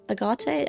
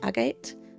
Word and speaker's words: Agate: How do you say that? Agate. Agate. Like the gem.